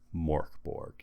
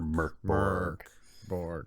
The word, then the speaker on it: Mörk Borg: this game call it Mor Borg even though that is true it is supposed to be pronounced MK B mkor Borg um I don't know